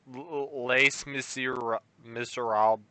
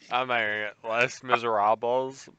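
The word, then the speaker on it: Les Misérables: of me neither um lace monsieur miserable what i can't we've said it 14 times the american way and the correct pronunciation less miserables i challenge hugh jackman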